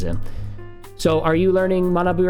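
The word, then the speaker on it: 学ぶ: Because this could also be, if we added bu to it, mana bu, you'll see that it's not pronounced gakubu, it's pronounced manabu, but it's using the same character.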